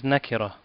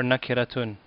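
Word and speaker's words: نكرة: The Arabic equivalent of the term indefinite is nakira, or nakiratun, if you pronounce the end.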